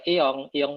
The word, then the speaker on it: Aeon: Jadi kalau kita belanja ke Iong Mall, Aeon ya tulisannya, tapi bacanya Iong Mall, itu ya mungkin bisa ketemu sama sesama warga Indonesia di sana.